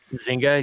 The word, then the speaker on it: Zynga: Then Yeah, and the companies behind it, I think, am I pronouncing this right? Zynga. Zynga, yeah.